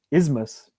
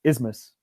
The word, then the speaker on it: isthmus: a very specific thing so the pronunciation is just isthmus there's no CH because